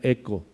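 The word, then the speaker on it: ἔχω: de la palabra se se escribe hecho pero me dijo V que se pronuncia eco como la las Ollas eco de vasconia no así y cuando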